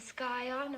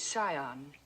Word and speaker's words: scion: Yale, a yacht, and the skyon of a prominent family. The word is scion. The sea is silent.